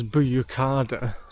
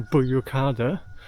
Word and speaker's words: Büyükada: I'm pronouncing it as Büyükada. That might be completely wrong, but I will include the actual name of the island. And if I'm pronouncing it wrong, if you're Turkish or you speak Turkish, let me know in phonics how you would pronounce it. I think the U with the two dots above it is an O sound, so Büyükada.